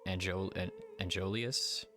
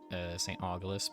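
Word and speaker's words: Aegolius: So, Saint, they say Aeolius. I always call it Saint Augulus, but I'm sure that's incorrect.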